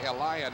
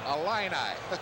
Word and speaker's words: Illini: I was saying Illini, making it a 4-syllable. It's fighting Illini. 3-syllable. My apologies for the fighting Illini.